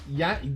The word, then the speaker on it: Giannis: is this guy though naming himself genius it's Giannis Yan you're mispronouncing Ando okay and then let's see what